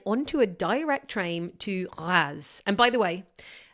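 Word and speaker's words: Reims: a direct train to Raz. And by the way, Raz is not pronounced how it's spelled, which is R E I Ms. Think R, but with a bit of a nasal French twist.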